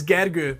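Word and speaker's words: Gergő: Facebook yeah so my actual name is is gagger but the earth sound at the end tends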